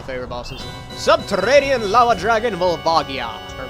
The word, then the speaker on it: Volvagia: Subterranean Lava Dragon Volvagia. Or Volvagia, depending on how you want to pronounce it.